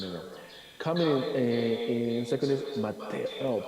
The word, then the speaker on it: Mateo: Coming in second is Mateo, pronounced Mateo in Spanish, right?